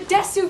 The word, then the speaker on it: Desu: not believe in the Desu videos because they are pronounced Des.